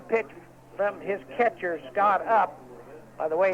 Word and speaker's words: Upp: And Bud Gale picking up the pitch from his catcher, Scott Up. By the way, it's spelled UPP, Scott Up.